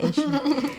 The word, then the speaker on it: Eshu: The story about Eshu is like, am I pronouncing it right? Eshu.